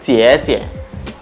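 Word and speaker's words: 姐姐: পরের শব্দটা হচ্ছে চিয়ে চিয়ে, চিয়ে চিয়ে। প্রথম চিয়ের মধ্যে আছে থার্ড টোন এবং পরের চিয়ের মধ্যে হচ্ছে নিউট্রাল টোন।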